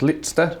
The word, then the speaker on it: Litster: No offence, Ross Trevor, but I think Drew Litster, that's Litster, I say it correctly, I'm one of the ones that do. Drew Litster. Litster, that's beautifully said.